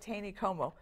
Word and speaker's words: Taneycomo: Just gorgeous, right along Lake Taneycomo.